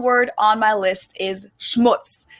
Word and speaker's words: Schmutz: And last but not least, the final word on my list is Schmutz. This one is pronounced and used the same way in both languages, and it means dirt.